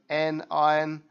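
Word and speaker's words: anion: ion also known as an n iron rhymes with onion which makes you cry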